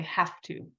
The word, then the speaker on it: have to: study for the test in English we say have to it sounds like it's spelled with an F but it's not I have to study